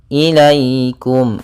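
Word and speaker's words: إليكم: adaum di sini ada ya sukun yang fathah ini bacaan Lin maka dalam pelafalannya harus lembut tidak boleh ilaikum jangan sampai juga dibaca dengan bacaan e harus sempurna Inya ilaikum ilaikum kemudian pelfalkum kembali lagi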